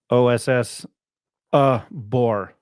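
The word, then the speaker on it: Osobor: pronunciation is oos ubar OSS uh bore like a bore so there you go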